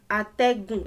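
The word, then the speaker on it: atẹ̀gùn: They have to help each other, be compatible. Ategun. Ategun is how the word is pronounced.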